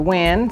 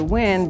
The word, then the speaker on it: Wynn: yourself I am Dr Wen it's my first name it's spelled uniquely so I don't allow everyone to call me about my first name I'm called Dr Nguyen because I make winners so I am a